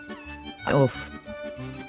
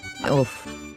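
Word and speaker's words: עוף: Off. Off. Let's see why we pronounce it like so. As you can see, the first letter in the word off is Ayin. Remember, ayin is a silent letter.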